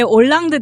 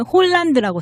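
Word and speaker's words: Hollande: 아니 왜 올랑드 대통령도 우리가 한글로도 올랑드라고 표기하잖아요. 근데 예. 그 영어로 보면은 홀란드라고 써요.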